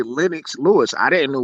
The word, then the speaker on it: Lennox: with the british accent we don't pronounce it lenox we pronounce it linux so yeah it's weird we're weird like that